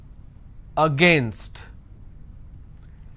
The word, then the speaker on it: against: correctly another word against now how do i pronounce this a gain against now the mistake that you end up doing is uh you end up pronouncing this as against its not against its against government how do i